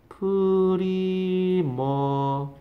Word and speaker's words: premature: 프리머처. 프리머처 이렇게 발음합니다. 프리머처 좀 길게 발음했네, 끝에가.